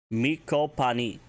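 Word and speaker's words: me'copaani: Miko pani. Miko pani. And that is spelled M-E Beton C-O-P-A-A-N-I.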